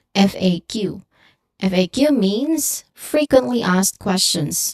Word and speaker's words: FAQ: We pronounce it by letter FAQ.